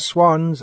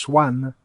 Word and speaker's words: swan: completely different types this this one usually pronounced in indian english swan but it's actually pronounced in english english swan even though it's spelt as if it might be pronounced swam ah he's very graceful